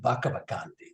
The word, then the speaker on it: Pakapakanthi: So I think the closer probably from the Aboriginal pronunciation is Pakapakanthe. They tend to have a B for Pakapakanthe, and the TH is more of a D.